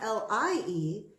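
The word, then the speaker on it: lye: it ly ly e this is not L ie telling it not true this is al y e it's pronounced the same as ly it says a strong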